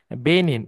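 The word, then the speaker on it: benign: খুবই একটা important word বেনিন জি টা উজ্জ্ব থাকবে জি উচ্চারণ হবে না আচ্ছা বেনিন আচ্ছা সো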